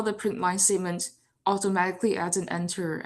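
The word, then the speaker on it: println: Uh, so the PowerPoint says that the print line statement is pronounced print lin, but me personally, I think print line makes more sense.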